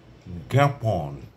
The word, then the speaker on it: জ্ঞাপন: জ্ঞাত তারপরে আছে জ্ঞান জ্ঞান তারপরে আছে আপনার জ্ঞাপন ইত্যাদি কাজেই তিনটি শব্দ আমি এখানে বললাম জ্ঞাত জ্ঞান জ্ঞাপন শব্দের শুরুতে যদি ব্যবহৃত হয় তাহলে গ এর মত উচ্চারণ হয় আর যদি শব্দের মধ্যে